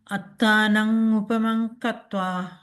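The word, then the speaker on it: attānaṃ upamaṃ katvā: If I didn't see this, and if I saw it in Sinhalese, it should have been Attanang upamang katva.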